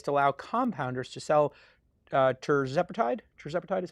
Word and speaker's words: tirzepatide: The FDA is to allow compounders to sell tirzepatide. Tirzepatide is how it's pronounced.